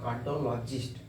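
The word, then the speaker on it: cardiologist: आज यहां लगा दिया हर को हल्का साइलेंट करके बोलेंगे कार्डियोलॉजिस्ट कार्डियोलॉजिस्ट doctor of bone जो बोन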